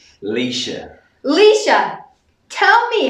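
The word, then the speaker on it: Laoise: Because this is how I would read it if I were to see the name. Louise. Every time I see that name, I just go, Louise, and Cameron corrects me and says... Leisha.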